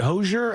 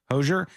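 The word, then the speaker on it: Hozier: Is it Hosier? How do you say that person's name? Hosier.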